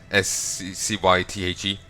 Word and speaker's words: scythe: It also wielded a scythe of some sort. That is how you say it, right? S-C-Y-T-H-E. Scythe. Because I swear I remember someone arguing that it's pronounced...